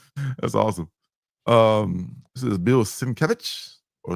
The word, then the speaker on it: Sienkiewicz: This is Bill Sienkiewicz, or Sienkiewicz, if I heard it pronounced that way a couple of times too.